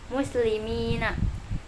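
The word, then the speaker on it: مسلمين: Maka kita harus membaca huruf sebelum ya dengan kasroh dan membaca nun di akhir kata dengan fathah. maka dibacanya muslimina.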